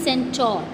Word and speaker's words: centaur: Its correct pronunciation is centaur, CENTAURS.